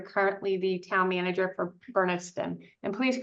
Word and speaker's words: Bernardston: being that you're currently the town manager for Bernardston. And please correct me if I'm pronouncing that wrong.